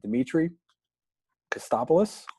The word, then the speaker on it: Dimitrios Kostopoulos: But our guest today is Dimitrios Kostopoulos. Hopefully I got the pronunciation.